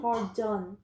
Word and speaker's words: pardon: The last two words, the D-O-N. I think you're saying dim, like D-E-N. So pardon. Pardon.